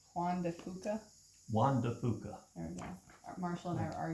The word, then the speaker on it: Juan de Fuca: How do you pronounce Juan de Fuca? Juan de Fuca, There we go.